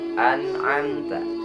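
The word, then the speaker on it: أَنْعَمْتَ: Kesalahan pertama itu dalam pengucapan idhar. Idhar ini artinya jelas dalam pengucapan nun mati dan tanwinnya. An. Tidak ada qalqalah, tidak mantul, tidak ditahan juga, tidak mempunyai guna. An'amta. Jangan sampai an'amta. Awas. Atau an'am, tidak. Tetapi an'amta. Nah, yang kedepannya sesudah idhar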